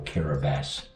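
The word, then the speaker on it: Kiribati: is actually uh what they call kabas which is spelled kabati um and they're atols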